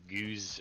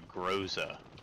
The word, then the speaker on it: Groza: this gun a lot which one's though the goose or i don't know how you pronounce it's like one of the cold war weapons like gooser yeah the groza is it an lmg what is it no